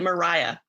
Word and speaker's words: Maria: also she get murdered by cherries melatonin is a very serious drug no her name is spelled maria but they pronounce it mariah so i had to